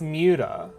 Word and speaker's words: MWDA: It wasn't that MDA was taken, it's that I kind of always wanted it to be pronounced Muta.